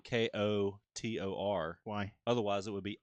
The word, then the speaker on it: KOTOR: You have to say KOTOR.